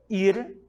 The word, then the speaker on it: ir: O verbo ir, ou melhor, ir, na língua espanhola, essa é a pronúncia correta, conjugado na primeira pessoa do singular, yo, sou eu que estou falando.